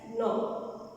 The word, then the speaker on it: gnaw: These animals have sharp incisors which help them to gnaw the fruit. Here there is a one word, that is gnaw. Here G is silent. So it is pronounced as gnaw.